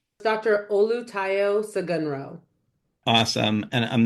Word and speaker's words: Olutayo Sogunro: Olu Taio Sagunro.